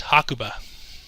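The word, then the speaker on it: 白馬: little translator known here like where the white horse and japanese are pronounced as hakuba anyway um the bartolomeo's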